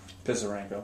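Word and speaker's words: Pisarenko: I believe it came from Corellin, and I think he told Alexis, who worked with Pizarenko, is that how you pronounce it? Pizarenko.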